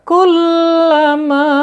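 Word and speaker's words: كلما: Kullama, mimnya panjang ya. Berapa panjang mim itu ya? Lihat ya, sebelum kita menentukan panjang suatu huruf hijaiyah ya, kita tentukan dulu ya. Kenapa bisa dipanjangkan dan berapa panjangnya? Ya, di sini ada mad tabi'i ya, menghadapi huruf alif ya.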